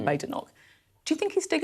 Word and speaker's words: Badenoch: conference with Nigel Farage, he called you Kemi Badenoch, not Badenoch. Do you think he's doing it deliberately? Well, I've never heard him say Badenoch before.